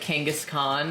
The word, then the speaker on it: Kangaskhan: Do you think it's pronounced like Kangaskhan? Kangaskhan, sorry. That's, you're saying like Genghis Khan? Yeah, you're saying it right.